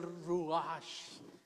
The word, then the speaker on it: ruach: Así que la perfección de los santos, hermanos, es el ruach en hebreo, así es como se pronuncia, el ruach de Dios, el aliento de Dios, el que viene a nosotros cuando lo recibimos.